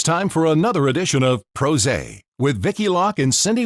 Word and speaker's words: PRosé: you thank you yes this is pros a it rhymes with rose it's two pr pro